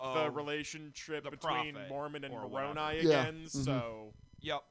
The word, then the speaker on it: Moroni: the angel uh moroni moroni is how you pronounce it um who shows him